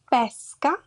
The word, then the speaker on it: pesca: Pesca, the fruit, caffè.